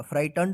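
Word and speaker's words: frightened: inch the farmer was फ्राइटें एफ आर आई जी एच टी ई एन ई डी फ्राइटें जी एच जो है ना silent रहेगा फाइटन पढ़ेंगे इसको आउट ऑफ हिज ट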